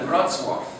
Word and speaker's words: Wrocław: The company was started in 2004 in Poland, Wrocław.